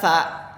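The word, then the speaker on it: ث: Jadi kalau sa ini dibacanya itu ujung lidah itu seperti dijepit pada 2 gigi. Kemudian dialirkan nafas sa.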